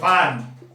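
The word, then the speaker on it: farm: FAR, ये आते are silent वाला है, ये फार्म।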